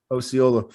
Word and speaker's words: Osceola: Pronunciation long O. Osceola. Osceola.